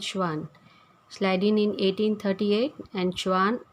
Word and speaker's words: Schwann: The pronunciation is Schleiden and Schwann.